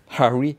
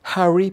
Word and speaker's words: Harry: euh Harry Potter Harry je dis pas bien parce qu'il faut on m'a reproché de pas prononcer alors je te je te le dis on m' on m'a dit que je ne prononçais pas les h en anglais Harry Potter voilà donc